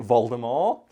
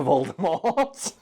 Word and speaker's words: Voldemort: if Brad can find a clip maybe he pronounces it vulgar more however when the films came around she realized oh man Americans aren't going to get this so she changed it to Voldemort and that's the same reason why in America